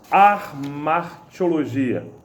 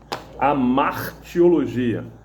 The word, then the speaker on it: hamartiologia: falar alguns que dá sobre archeologia não sei nem pronunciei errado do certo é hamartiologia é uma palavra de